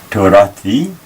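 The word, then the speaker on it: תורתי: Torathi, object my law. And Torah normally ends with an H, but with the first person singular ending E, the H has become a T and pronounced th.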